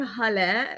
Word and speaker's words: Halle: I'm Halle and it's pronounced like hallelujah.